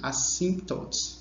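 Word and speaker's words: asymptotes: Lembrando, assíntotas, esse P é mudo. E o detalhe importante é a escrita, né? Que vai ter esse Y aqui, assíntotes.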